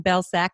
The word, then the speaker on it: Belcak: So Belcak, finally pronounced that correctly, right?